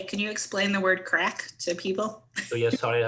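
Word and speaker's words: craic: We use crack in Ireland to refer to fun.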